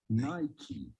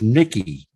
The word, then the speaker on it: Nike: the United States so how do you go about pronouncing the name of this brand simply Nai tea Nike see Nike Nike okay I could swear uh it was Nikki Mikey Nikki no it's Nike oh it's like is